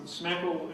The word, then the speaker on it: SMCAKL: to stall it um smackle is the the U strangely pronounced hashtag and as you'll see